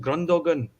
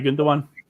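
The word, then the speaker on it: Gündoğan: It's funny, I saw a thing with, was it Grundogan, how you say his name? Something in Aye, social. okay, Gundogan.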